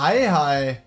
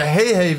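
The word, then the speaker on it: Heihei: Oha, was ein geiler Hi-Hi. Oder Hey-Hey wird der ja ausgesprochen.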